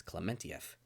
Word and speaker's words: Klementieff: uh great acting from Palm because I mean clementieff I heard that apparently that's how you pronounce her last name is clementieff I didn't know that um yeah yeah she